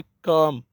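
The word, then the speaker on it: calm: जैसे काम, CLM, इसको काल्म नहीं बोलना है, काम बोलना है।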